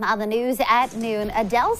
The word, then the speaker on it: Adele: While many pronounce it as Adele, the singer says it's actually Adele.